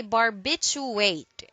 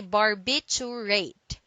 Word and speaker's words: barbiturate: first one is barbiturate don't say bar you wait do say barbiturate it is a noun and it means any of a class of sedative and sleep inducing drugs derived from barbiturate acid okay so don't forget this word contains four syllables and it says bar